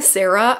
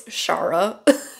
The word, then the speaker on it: Shara: 50% into I Kissed Shara Wheeler. I've been saying Sarah. I assumed that it was just like a funky spelling for Sarah. No, it's Shara.